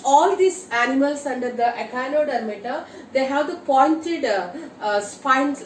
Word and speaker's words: Echinodermata: And the last phylum in an invertebrates is an Echinodermata. Let me pronounce once again, Echinodermata.